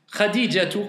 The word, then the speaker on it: Khadija: Khadijatu, quand on prononce Khadija, comment on le prononce en général? Khadija. Mais si on veut rentrer dans les détails, c'est bon ou pas de dire Khadija?